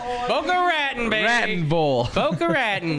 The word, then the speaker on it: Boca Raton: Boca Raton, baby.